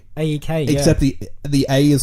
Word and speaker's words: A3K: Is he just called like AEK? AEK, Except the A is like a 3, so it's A3K.